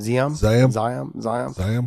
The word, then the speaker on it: Ziam: Ziam.